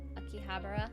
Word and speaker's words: Akihabara: Say it right but less emphasis on the end of the of the syllables. Akihabara This looks good.